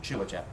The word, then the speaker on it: Cilacap: off from a place called Cilacap, or Chilajap, is the right pronunciation, in southern Java.